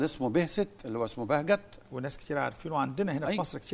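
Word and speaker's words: Behçet: طبعا وعندنا في مصر كتير جدا اكتشفوه راجل تركي اسمه بهجت، وطبعا هم بينطقوا بهست. او حورت الى بهست في المراجع العلميه.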